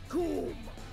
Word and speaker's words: Coom: Coom. It rhymes with doom.